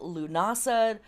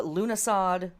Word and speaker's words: Lughnasadh: the Year 2023 cycle lunasa uh lunasad it's pronounced both ways the first harvest and